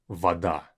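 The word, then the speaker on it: вода: is water Vada and like I've been stressing the pronunciation this one has both us Vada Vada make sure whenever you pronounce this word you don't ver your mouth and say v v open open it up v v okay it has to kind of flow a bit V like singing in a way okay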